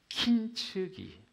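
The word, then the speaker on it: 金継ぎ: 어, 일본에 킨츠키 킨츠기 킨츠기 킨츠기 예 제가 이걸 써 써 놓기는 킨즈기라고 했는데 킨츠 킨츠 막 이렇게 자꾸 그러니까 어 일본어를 전공하신 그 우리 일부 일부 예배를 드리신 성도님께서 목사님 발음을 그렇게 발음하시면 안 됩니다. 그래 가지고 제 긴장에서 발음을 하 킨츠기 킨츠기 키는 금이라는 뜻이거든요.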